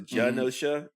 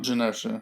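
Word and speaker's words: Genosha: or josha I'm sorry it's a soft G so it's a janosa um janosa but I'm not sure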